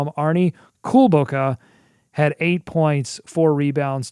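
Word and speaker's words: Kulboka: i've been saying it wrong i've been saying cool boca it's cool bokeh very very small difference but it means uh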